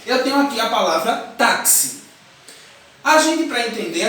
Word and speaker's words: táxi: Mas quando eu falo que si, eu não falo X. Falo táxi. Então, eu falo C, S, I.